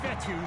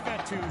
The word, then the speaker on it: Fetu: So Coach Fetu, spelled F-E-T-U. For the longest time, I was pronouncing it Coach Feta, like feta cheese.